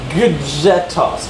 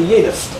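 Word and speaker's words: gjetost: It's like gudjetost, right? But it's actually yetost, or yetost.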